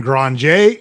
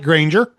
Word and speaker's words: Granger: Benjamin Granger. It looks like Granger, but he is Cajun and from Louisiana, and it's pronounced Granger.